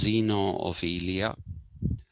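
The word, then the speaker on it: Zeno of Elea: looked towards people like zeno of ilia it's pronounced as xeno of ilia xenoverlia is usually considered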